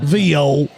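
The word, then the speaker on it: viol: Well, that's the English that's the English pronunciation. Vile. Vio. Vio. That's the French pronunciation.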